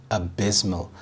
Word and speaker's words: abysmal: The stress is on the second syllable, abysmal.